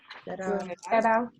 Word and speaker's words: cerrar: So that's a double R, and it makes a R noise. You have to roll your R's in Spanish sometimes. So it's really important to be able to make that distinction in Spanish between cerrar and cerrar.